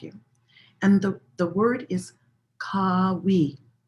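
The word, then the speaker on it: Qawi: And the word is Kawi. Kawi. It's spelled or transliterated Q-A-W-I, but you could think of it almost like, K-A-W-E-E, Kawi.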